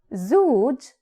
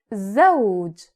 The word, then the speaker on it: زوج: It might also have shadda or sukoon, as in zawj. Zawj. It is not zuj, it is zawj.